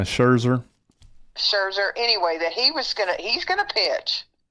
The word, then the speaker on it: Scherzer: And I saw where Schwarzer, I don't know how to say his name, Schwarzer. How do you say his name? Yeah, Scherzer.